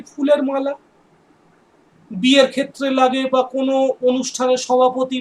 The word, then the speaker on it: bouquet: বেশ, এবার মনে রাখবো বোকে অফ ফ্লাওয়ার, এই বানানটা কিন্তু মনে রাখবে, BOUQUET, BOUQUET, বোকে of flower.